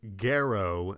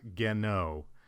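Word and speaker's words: Garou: So as I was editing this, I realized I made a horrible mispronunciation. The other character I'm referring to is Gero, not Geno. For the rest of the video, I mispronounce it, saying Geno instead of Gero.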